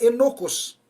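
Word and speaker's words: ἔνοχος: réu olá amados irmãos a palavra culpado no grego aí ela se pronuncia e loucos o que significa passível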